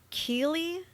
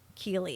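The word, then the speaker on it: Keighley: of July 5th in key I don't know how to pronounce that ke e i g h l e y key is how I figured it was pronounced he attacked 36-year-old Anna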